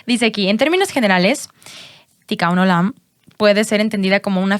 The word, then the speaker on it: Tikkun Olam: Espero que se pronuncie. Uh-huh. Es Tikkun Olam. Tikkun Olam.